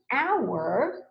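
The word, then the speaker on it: hour: or when you say our in this case right it's not making the H sound it's making a vowel sound in this word in our the H is silent right usually the H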